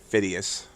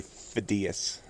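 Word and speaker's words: Phidias: with them fidas Thursday I kept pronouncing it fidus but I finally looked it up it seems to be fidas it's already been done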